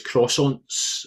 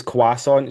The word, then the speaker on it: croissant: I say croissant. But Rachel says quasonant. She replaces the R with a W.